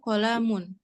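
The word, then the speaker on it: قلم: Hadza qalamun. Qalamun. Ko-nya nggak panjang. Qalamun. Tidak ada alif di sana, jadi kita bacanya qalamun.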